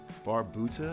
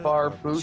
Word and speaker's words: Barbuta: Not Barthandalos. No. Barbuta. Barbosa? I'm joking. Barbuta. Barbosa.